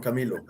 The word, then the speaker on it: Camilo: i say your name correctly how is it pronounced juan camilo camilo camilo welcome name of this show tonight